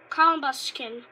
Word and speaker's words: Combusken: I mean she Combusken oh it actually calm buscan it actually shows you how to pronounce it which is nice call